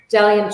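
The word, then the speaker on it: Bdellium: It's spelled B as in boy, D as in dog, Ellium, but the silent, so it's Dalium tools.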